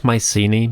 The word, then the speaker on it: Mycenae: I'll call it Mycenae because that's the most common version in English, but just know that the original pronunciation is closer to Mukini.